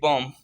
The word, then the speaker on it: bomb: जैसे BOMB बॉम्ब। The actual pronunciation of this word is बॉम्ब बट the last B is silent.